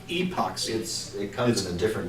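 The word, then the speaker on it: Apoxie: It's spelled with an A, but it's like epoxy.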